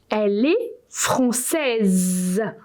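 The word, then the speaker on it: française: say she is French francaise and you pronounce it like like if it was a some b or something you know Z so you have for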